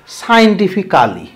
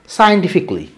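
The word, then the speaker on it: scientifically: তোমরা এটা কি বলো? সায়েন্টিফিক্যালি, সায়েন্টিফিক্যালি, সায়েন্টিফিক্যালি, এরকম কোনো কালি ক্যালি এরকম। তারপরে এইগুলা এই ধরনের ওয়ার্ড ইংলিশে না, এটাকে তোমাকে উচ্চারণ করতে হবে ইকলি। কি? E. coli, সায়েন্টিফিকলি।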